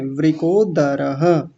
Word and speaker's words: वृकोदरः: यह ध थोड़ी है बिटिया ध नहीं है द है ऐसे वृद वृिक आप ऐसे मानेंगे नहीं है ना वृदः दवात जो होता है द वो वाला बोलना है वृकोदरः बोलिए ठीक है।